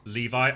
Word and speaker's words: Levi: Levi is pronounced like Levi. Oh, like the jeans.